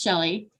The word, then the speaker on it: Shelley: is Shelley I know it's spelled really weird but it is pronounced Shelly and before 2019 before